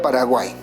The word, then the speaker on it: Paraguay: ¿Cuántas sílabas tendrá la palabra Paraguay? Separemos. 1, 2, 3. ¿Dónde se encuentra la mayor fuerza de voz? Ahí te lo marco. Y si te das cuenta, si puedes observar, en la última sílaba tenemos el sonido de 3 vocales, ¿no es cierto?